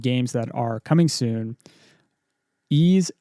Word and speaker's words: Ys: Ease X, that's YS, that's how you pronounce Ease.